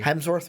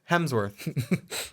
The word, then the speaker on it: Chris Hemsworth: Hemsworth, right? Hemsworth. Did I say that right? He did Helmsworth? Helmsworth.